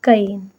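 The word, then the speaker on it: Cayenne: इसकी जो कैपिटल है वो कन है। क्या है? कईन। स्पेलिंग है इसकी सी ए वाई E double N ई। ठीक है? कैन पढ़ सकते हैं।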